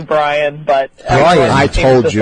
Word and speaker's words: Brion: Well, everybody says it differently. It is actually Brian, but Brian.